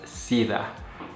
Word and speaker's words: SIDA: We're going to start out with number one is S-E-I-D-A, pronounced as SIDA, SIDA.